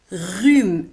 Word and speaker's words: rhume: Le rhume. زكام. Rhume. Un rhume. Le rhume. كما تلاحظون على أن rhume تكتب R, H, U وتنطق rhume. Le rhume.